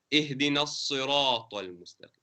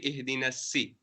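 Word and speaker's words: اهدنا الصراط المستقيم: And we said that these letters we have to pronounce with an elevation, regardless of whether there's a fatha, kasra, or dhamma. And we gave a few examples. Ihdina as-sirata al-mustaqim. It won't be ihdina si.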